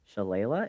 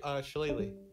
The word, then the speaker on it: Shillelagh: Cast as a bonus action Shalala? Is that how you pronounce it? Yeah, Shalalee. Shalalee.